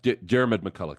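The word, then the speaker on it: Diarmaid MacCulloch: Is that how I would pronounce it? Diarmuid MacCulloch, yeah.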